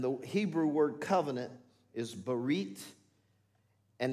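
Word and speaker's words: ברית: new covenant and the hebrew word covenant is barret and it's made up of three syllables if you will bar e and tav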